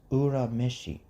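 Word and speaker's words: Urameshi: any sense at all it's supposed to be at least Ura Mishi like if we're completely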